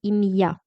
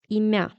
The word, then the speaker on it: ім'я: And be careful with the pronunciation because we consider an apostrophe. With it, we really say Ім'я, and without it, it would be Ім'я.